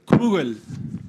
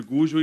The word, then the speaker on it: Gugel: Moisés Gugel, como é que é a pronúncia? Kugel. Faz 14 anos que eu chamo de Gugel e assim continuarei.